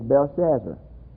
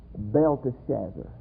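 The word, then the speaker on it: Belteshazzar: there I've been pronounced in Daniels name is Bell Shazzer but I've been pronouncing it wrong I never didn't see the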